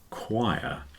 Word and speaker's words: choir: not difficult to pronounce it just doesn't look like anything like the word when you see it but it's pronounced choir yeah sometimes a group